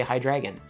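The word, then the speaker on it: Hydreigon: a little bit but the pun only works if you say hi Dragon Hydra and dragon and we already have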